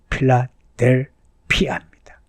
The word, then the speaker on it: 필라델피아: 오해를 따라 형지의 후에 이게 필라델비아입니다 필라델피아입니다 고발음이 헬라어 발음이에요 형제의 교제 가운데 성도들을